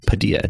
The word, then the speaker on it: Padilla: My last name is Padilla. Padilla. Like tortilla.